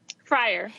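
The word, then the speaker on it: Frier: Sarah, is your last name pronounced Fryer? Fryer.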